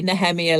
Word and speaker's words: Nehemiah: Hebrew root think because they tend to say nemia like uh like Jewish people do yeah or some American